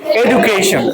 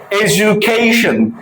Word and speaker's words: education: আমরা কি উচ্চারণ করি? এডুকেশন।